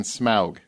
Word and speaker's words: Smaug: Vanquish Kingdom and gold from the Monstrous Dragon Smaug I say it right yes thank you every